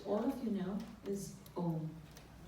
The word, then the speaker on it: Om: And that highest mantra would be a simple syllable, which all of you know is Om. Om has 3 syllables into it. A, U, and Ma, which denotes the waking state, the dream state, and the sleep state.